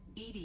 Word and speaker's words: EDI: are you named Ed Ed is the phonetic pronunciation of Eed that is an Acron